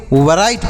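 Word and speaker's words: write: राइट नहीं पढ़ना है यहां पर डब्लू जो लिखा गया है यह साइलेंट है इसे नहीं पढ़ा जाएगा तो क्या पढ़ेंगे सर इसे इसे पढ़ेंगे राइट आर आई टी ई राइट पढ़ेंगे डब्लू साइलेंट है इसे लिखा जाएगा डब्लू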